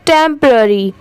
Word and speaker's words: टेंपररी: आईएस इज ये है टेंपररी टेंपररी इसकी प्रोनंसिएशन है टेंपररी टी ई एम टम हो गया पी ओ आर ए आर वाई टरी टेंपररी ठीक है यहां पर पी की साउंड साइलेंट है यहां पर इसकी प्रोनंसिएशन